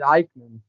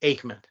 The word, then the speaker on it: Aikman: And I pronounced it Eichmann. Huh? I always pronounced it Eichmann. No, it's pronounced Aikman.